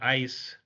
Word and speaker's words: IaaS: Okay, IaaS, sometimes pronounced ICE, this is infrastructure as a service.